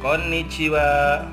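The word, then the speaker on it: こんにちは: siang selamat siang Konnichiwa di sini ada N2 hatinya penekanan berarti diucapkannya Konnichiwa logatnya tuh Konnichiwa gitu ya seperti itu ya kemudian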